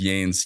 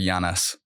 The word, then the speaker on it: Yanes: I think it's kind of funny, but it is funny how everyone just assumes it's Yanes. You need like a little accent on the end or something, like Yanes.